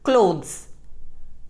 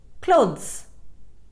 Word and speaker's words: clothes: first word is clothes it is mispronounced as clothes the correct pronunciation is clothes second monkey it is